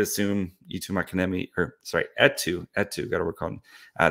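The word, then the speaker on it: Eetu: um I would assume YouTube Academy or sorry et2 et2 gotta work on uh that's how he likes to his first name pronounced but etu machinimi um I think he would be or sorry at toe at toe um I think I know he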